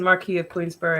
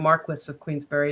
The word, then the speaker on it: Marquis of Queensberry: I said Marquis of Queensberry and Marquis of Queensberry. It depends on how you say it. Depends on where you're from.